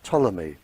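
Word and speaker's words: Ptolemy: Greek living in Egypt by the name of tmy uh spelled with a p he very famous scientist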